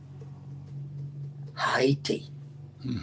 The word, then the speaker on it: Haiti: going to spell it, we're going to pronounce it the way the indigenous people, the Plainate people, Haiti, Haiti, Haiti. That's the name of it.